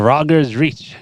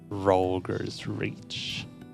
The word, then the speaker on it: Rolgers Reach: Right then, let's head back to Rogers Reach.